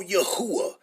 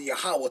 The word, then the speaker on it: Yahweh: Because ain't no U vowels in Paleo Hebrew. So you wouldn't be saying no Yahuwah. So how's our father Yahweh is Yahuwah and Yahweh shall name Yahusha?